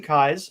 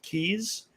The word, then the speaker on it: Keyes: challenge pronouncing my name it's like the eyes in your head with a k in front of it kai's okay i frequently pronounce it keys especially if i'm not